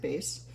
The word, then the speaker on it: bass: So bass clef is spelled like a fish, bass, but it's pronounced like bass.